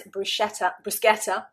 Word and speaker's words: bruschetta: Bruschetta. Bruschetta. The British, I think probably 9.9 times out of 10, will pronounce it bruschetta. Bruschetta. And of course, it is a foreign word. It's an Italian word.